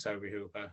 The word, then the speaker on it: Tobe Hooper: Yeah, it's because of the way it's spelled, isn't it? It's spelled like Tobe, like. Yeah. Oh yeah, but I mean, unless people just pronounce it incorrect, so usually people pronounce it Tobe Hooper.